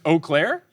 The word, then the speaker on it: Eau Claire: It is spelled EAU space CLAIRE. Eau Claire? Is it just Eau Claire?